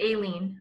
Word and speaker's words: Aileen: It's Aileen. But it's Eileen with an A.